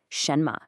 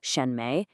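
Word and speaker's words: 什么: neutral tone it's so light and quick and completely unstressed it kind of just tags along for the ride all the emphasis is on that first part shenma. The mistake is to give both syllables equal weight like shenme it just sounds unnatural.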